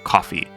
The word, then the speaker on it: Ko-fi: or donate to my Ko-fi. Or Ko-fi. I never know how to pronounce that. I think it's supposed to be coffee. It's supposed to be like buying a cup of coffee.